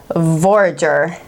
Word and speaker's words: Forager: But and then with also Humble Forager. Am I saying that right? Forager. You always get words right. You never look to me for words. I mispronounce everything. No, it's forager, like you forage for food, or it's a forager.